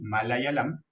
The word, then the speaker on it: malayalam: El tamil, el telugu, el malayalam, pronunciamos con I, malayalam, el kannada y el oriya.